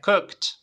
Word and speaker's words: cooked: Cook para llevarlo pasado lo pronunciamos con t sería de la siguiente manera cooked tiene que sonar la t al final vale repite conmigo cooked